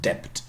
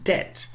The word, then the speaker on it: debt: b in it and therefore they put the b into the spelling to make it look more latin re-latinization we call this never pronounced never pronounced there was never they never just said dept or anything like this it's always been dead okay the went in